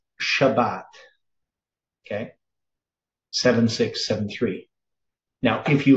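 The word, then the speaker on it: שבת: so shab and then if it has a dot in the center that means you double the b in in your pronounce Shabbat right still going to sound the same Shabbat but it's it's pointed differently then 7673 right so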